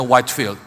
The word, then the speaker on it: Whitefield: Saudara, sejarah mengenal John Wesley dan sahabat baiknya George Whitfield. Kalau di Inggris bacanya Whitefield.